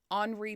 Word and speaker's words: Henri: security of the Ritz, Henri Paul. It's spelled Henry with an I, but France. Yeah. So Henri Paul.